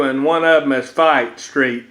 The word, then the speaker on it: Fite: called West Avenue and one of them is fight Street F ite that's how you spell it so I was at the corner of